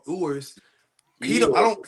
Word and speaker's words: Ewers: But I don't think Ewers is that much better.